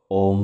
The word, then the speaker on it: ওম: ওম শব্দটিকে আপনারা তিনটি ভাগে ভেঙ্গে নিন। ও অ আর ম। ও অ আর ম। ও এর উচ্চারণ নাভি থেকে। অ এর উচ্চারণ গলা থেকে। ম এর উচ্চারণ মাথা থেকে। ও এর উচ্চারণ নাভি থেকে মানে ও। অ এর উচ্চারণ গলা থেকে। অ ম এর উচ্চারণ মাথা থেকে ঠিক এভাবে মাথা ভাইব্রেট করবে।